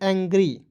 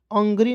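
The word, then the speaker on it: angry: एन जी आर वाई तो क्या पढ़ेंगे एंग्री अंग्री नहीं पढ़ेंगे एंग्री एंग जी आर वाई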